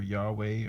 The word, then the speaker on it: Yahweh: I hear sometimes you spell or you pronounce the W as a V and the V as a W sometimes, so it's the exact same.